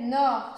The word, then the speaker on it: nord: Seulement le D ne se prononce pas. Les autres, on prononce la fin. Sud, est, ouest, on prononce la fin du mot.